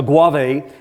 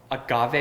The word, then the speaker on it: agave: And a what? A guave. Agave? Agave. Did I say it wrong? Okay. Well, whatever that is, I like it. I like it a lot. Guave. It's agave. Okay. Agave. All right. What's that word? That is agave.